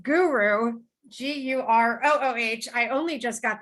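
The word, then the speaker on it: Gurooh: out of home organization he also runs a consultancy which is pronounced guru g-u-r-o-o-h i only just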